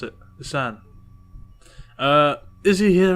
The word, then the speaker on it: Seine: The Seine, that's how you pronounce it. The Seine.